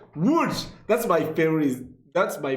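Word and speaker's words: Łódź: And rounding out for third place is the city of Wuch, which means boat, nearly Wow, the pronunciation is fantastic. Wuch. Wuch.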